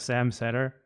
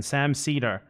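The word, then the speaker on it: Sam Seder: I don't think he just brushed off the Hassan thing and started talking about Sam Setter. Sam Cedar, whose name Why am I pronouncing it wrong all of a sudden? Sam Cedar.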